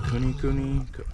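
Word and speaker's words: kunekune: a con con um some people also pronounce it COI Cooney there's a few different pronunciations for it but essentially they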